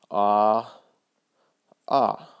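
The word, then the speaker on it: ʻaʻā: second one right here it looks like two A's it's pronounced ah ah it's also a Hawaiian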